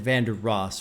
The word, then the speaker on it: Vandross: Although I said it wrong because he said Vander Ross, right? That way it can rhyme into Randy Moss.